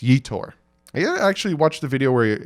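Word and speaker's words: Yetur Gross-Matos: I get flamed for not saying these correctly you tore gross Mattos is my number three and yes that's how you pronounce that I even listen to him say it it's you tour actually watch the video where his father said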